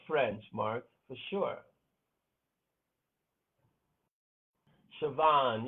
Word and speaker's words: Siobhan: Siobhan, yeah, that is the way it sounds. Who's that? Oh, Jenny. Yes, Jenny. Siobhan. Siobhan. That's not how it's spelled, though. None of those names are pronounced the way they spelled.